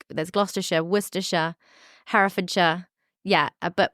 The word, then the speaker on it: Worcester: all the sh so I'm like there's glera wora harfa yeah but wora is how you say yeah okay werer great